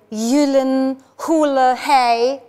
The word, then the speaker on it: Gyllenhaal: Why are you obsessed with the number five, Mr. Gyllenhaal? That's how you pronounce the name. Isn't that silly? Ey, wir sagen doch alle Jake Gyllenhaal, oder? Der heißt aber original Jake Gyllenhaal. I've worked so hard to make sure people pronounce my name right, and you've just completely